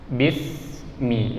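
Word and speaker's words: بسم: Huruf sin itu bukan huruf yang perlu dipantulkan suaranya. Karena kalau kita kurang hati-hati, kita akan bacanya bis, ada bunyi e-nya. Sementara dia tidak boleh ada e, tapi bismi ya.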